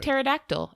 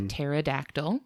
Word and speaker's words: pterodactyl: The greater flying fox belongs to the taxonomic family called that starts with a silent P, by the way. Oh, okay. Just like pterodactyl, actually. It's a similar root.